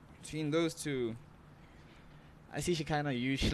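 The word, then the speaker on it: Shekhinah: Is it Shakaina or Shekina? Shekina. and Topsy.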